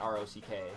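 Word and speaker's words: Roque: and you know uh rock and uh that's spelled r-o-q-u-e by the way not r-o-c-k but it's pronounced rock um rock is a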